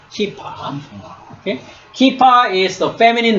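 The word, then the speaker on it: כִּפָּה: So you see this vowel mark, okay? Here, hirek. Hirek. Hirek is long E sound, right? So how do you say? Kap and E. So this is ki, right? Kipa. It's like when you play soccer, you have a keeper. So similar sound, but it's a kipa.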